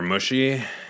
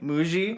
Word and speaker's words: Mushy: doing good boos huh because you mispronounced my name why muji is it muji mu yeah oh i'm sorry muji okay it's spelt mushy so it's okay it's okay